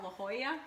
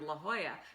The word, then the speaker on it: La Jolla: And I'm looking on the map trying to find La Jolla because La Jolla is spelled Lahoya. Uh-huh. You know, like Oscar de la Hoya.